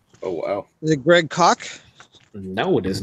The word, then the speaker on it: Koch: Greg Cook. Jim Cook. Well, it's pronounced Koch.